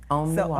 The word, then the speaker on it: armoire: So she was like, no, it's Om. And it's 3 syllables. Yes. So I totally screwed it up. I had to count it. Okay, so Om Noir. Okay. Om so Noir.